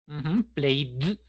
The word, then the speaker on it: played: Played. No necesito duplicar ese sonido de I, ¿sí? Porque ya digo play, no lo voy a pronunciar en versión pasada.